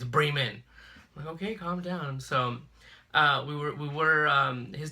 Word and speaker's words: Bremen: it's spelled be REM en the way you pronounce that to me is Bremen okay so but I would mess with Nathan I'm like oh we're going to Bremen he's like it's Bremen okay so we were his dad lives in